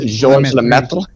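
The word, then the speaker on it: Georges Lemaître: It's French. It's like George Saint Pierre. You don't pronounce the S. It's Georges Lemaitre.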